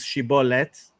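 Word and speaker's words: שיבולת: Okay, so the shibilith story uh the the the way you say it in modern Hebrew is shibbolet, right?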